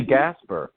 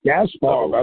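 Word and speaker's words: Gaspar: other non-med fans who pronounce this name Gasper all together it's gaspower blah blah blah so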